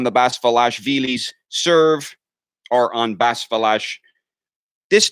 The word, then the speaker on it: Basilashvili: Basilashvili's serve, or on Basilashvili. This name is actually a pretty difficult one to pronounce. Let me say, my main insight about it is that Vili is the emphasis. So it's Basilashvili.